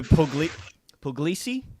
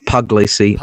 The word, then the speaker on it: Puglisi: Leo Puglisi? Have I pronounced that right? Close enough, Puglisi. Although technically I think it's Puglisi, but yeah, see, it's Italian, right? Yeah, that's right. So from the Sicily area.